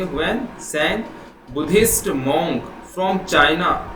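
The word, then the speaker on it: Hiuen Tsang: इसमें टी आपका साइलेंट है, इसे पढ़ेंगे हुएन स्वैंग।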